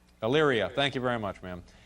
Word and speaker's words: Elyria: Elira, Ohio. I'm not pronouncing that correctly, am I? Elyria.